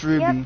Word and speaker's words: RWBY: It's pronounced RWBY.